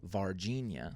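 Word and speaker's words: Varginha: this town in Brazil it's called vardinia sounds like Virginia but it's spelled completely differently uh but it's called Virginia and apparently in 1996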